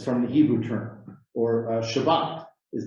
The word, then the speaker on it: Shabbat: for it um the the pronunciation is slightly different in yiddish you often emphasize a different syllable and a t at the end often becomes an s so shabbat in hebrew becomes shabbos